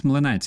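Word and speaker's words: млинець: It's mlynets. It's not blin. It's mlynets.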